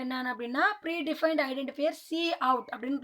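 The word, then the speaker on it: cout: First நம்ம யூஸ் பண்ண போகிற ஆப்பரண்ட் என்னென்னு அப்படின்னா pre defined identifier C அவுட் அப்படின்னு ப்ரொனவுன்ஸ் பண்ணணும்.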